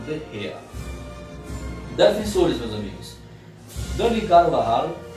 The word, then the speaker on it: De Gea: Meus amigos, eu sei, muitas pessoas falam De Gea, mas para o espanhol talvez a pronúncia mais adequada seja o De Gea.